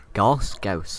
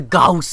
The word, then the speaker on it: Gauss: They got shot by the Gauss cannon. Yeah, Gauss, Jack, it's Gauss.